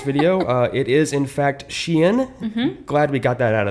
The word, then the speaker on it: SHEIN: And by the way, it's not pronounced Shine or Sheen or any of those things that I thought it was before doing the research for this video. It is, in fact, Shein.